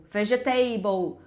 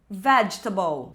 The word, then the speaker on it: vegetable: O finalzinho é igual table, então vou falar comfortable, vegetable". Mas não, o certo é meio que engolir várias letras dessa dessas duas palavras e pronunciar assim, ó, comfortable, vegetable.